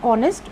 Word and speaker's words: honest: In honest, when we pronounce the word honest, we pronounce it from O onwards. The H is silent.